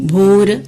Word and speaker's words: ഭൂര്: ഗായത്രി മന്ത്രത്തില് ഭൂര്, സവിതുര്, ഭരുഗോ എന്നെല്ലാമാണ് എഴുതേണ്ടതും ഉച്ചരിക്കേണ്ടത്. ഇനി ഉത്തരാർത്ഥം നോക്കാം.